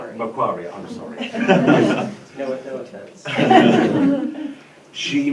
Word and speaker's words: Macquarie: Did I pronounce that right? Macquarie, I'm sorry.